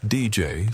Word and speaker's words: Dejai: It is nearly pronounced DJ, so I will refer to him that way moving forward.